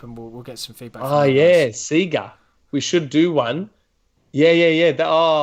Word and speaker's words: Sega: Sega. We should do one. Yeah. Hold on. That's such a good idea. Sega, so using the Sega font and everything, but spell it S-E-E or S-E-A-G-A-H.